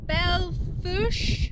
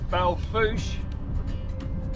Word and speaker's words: Belle Fourche: We're heading to the nearby town of Belfouche. I think that's how you pronounce it, because Trudy's got some minor repairs that she needs doing, which we'll show you.